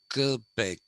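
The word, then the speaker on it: Québec: supposed to be pronounced kilpeck that's the french pronunciation and montreal we say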